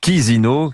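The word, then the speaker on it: Chișinău: Vincent Emmanuel Macron fait l'aller-retour aujourd'hui à Chisinau. Oui, ça c'est CHI, mais ça se prononce Chisinau, que c'est en Moldavie.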